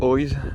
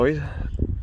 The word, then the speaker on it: Oiz: de mon nouveau vélo, le Orbea Oise H30, ou Oise, comme vous préférez le prononcer. Pour moi ce sera Oise.